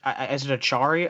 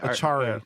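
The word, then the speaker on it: Acciari: But they just signed Noel Acari. I think that's how you say his name. Is it Achari? Achari. I think you're right. It's Achari, yeah.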